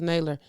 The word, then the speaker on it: Naylor: Before I end the show, though, I believe Naylor, Jason Naylor, I believe that's how you say it, Jason Naylor. I know it's Naylor.